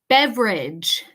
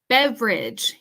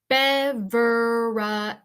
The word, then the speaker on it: beverage: Okay, next word, beverage. Beverage. Here's another pronunciation tip for you guys. This word in English has a dropped syllable. A dropped syllable. Okay, so instead of saying beverage, we say beverage.